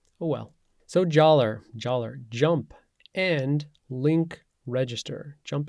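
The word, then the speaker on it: jalr: called Jer so I'm going to pronounce joller like dollar cuz I have this nice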